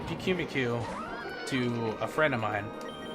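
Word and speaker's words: Pyukumuku: I think some people say Puku-Muku, like Puku-Muku, I don't know, but they say it like they slow it down. They basically say what I say, but slower. Puku-Muku. And I just say Pikimiku.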